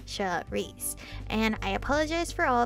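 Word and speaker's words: Saoirse: me start by saying my name s-a-o-r-i-s-e should reese and i apologize for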